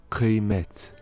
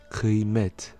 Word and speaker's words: kıymet: Le K peut se prononcer de deux façons différentes, soit un K normal, comme dans le mot kilo, kilo, qui signifie kilo comme en français, ou plus guttural, c'est-à-dire plus avec la gorge, si la voyelle qui suit et qui précède est un A ou un I sans point. Alors, on le voit dans l'exemple suivant avec les mots kıymet, kıymet, la valeur, ou